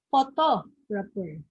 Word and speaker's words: photographer: First one is photographer or photographer. Okay, the correct answer is letter B. Okay, the stress is on the second syllable, photographer. Okay, next, number 3, which photograph do you like best?